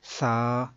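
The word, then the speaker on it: ثا: کو اگر پڑھیں گے تو وہ بے، تے نہیں بلکہ با، تا، سا ایسے ہوگا۔ تو اس طرح سے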